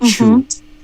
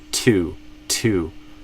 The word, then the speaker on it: two: So it sounded like chu instead of two.